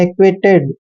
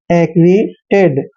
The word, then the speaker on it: acquitted: ए का उच्चारण ए करना है, सी क्याऊ को कै पढ़ना है, और यू आई का उच्चारण वह और ई की मात्रा करते हैं। डबल टी का उच्चारण टे करते हैं और ई को ए की मात्रा पढ़ते हैं, और डी का उच्चारण डे करना है।